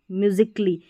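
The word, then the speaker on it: musically: देखिए ए साइलेंट रहता है। जैसे यहां पर लॉजिकली म्यूजिकली यानी ए के बाद में डबल एल वाई रहता है। ए के बाद में डबल एल वाई रहता है। तो ए का साउंड नहीं आता है।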